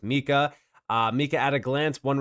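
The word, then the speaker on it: MiCA: Last but not least, yes, it's pronounced Mika.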